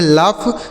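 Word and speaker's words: laugh: इस ए और यू का उच्चारण अ हो गया जी एस से फ। इसे पढ़ेंगे लाफ मतलब क्या हो जाएगा?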